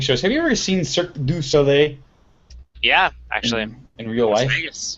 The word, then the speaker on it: Cirque du Soleil: have to pronounce it i really really enunciate it is because nobody ever does and that always sounds like circus olay what's what is circus